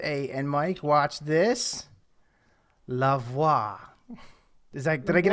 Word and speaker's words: LeVoit: it's it's French yeah it rhymes with Mah um so uh before